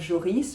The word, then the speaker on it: Joris: We say the S of Joris, right?